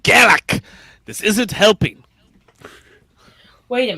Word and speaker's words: Garak: It's pronounced Garak.